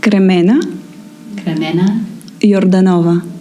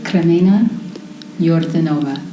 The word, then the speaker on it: Kremena Yordanova: Kremena Yordanova. Yordanova. You can, yeah. Do you roll the R? Yeah, but Kremena Yordanova.